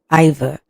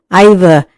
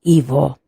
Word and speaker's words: Iva: married to her husband named Iva I understand that's how it's pronounced in England IA and not Evo Eric was also a